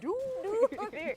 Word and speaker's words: Duviri: That's how you pronounce it, by the way. Duviri. Э, And then Duviri.